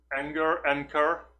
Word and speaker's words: anchor: In America and England, it's pronounced in the way they said anger, but with a K. Anchor. I guess, anchor. But it's definitely not enter, right? There is no ch sound in there.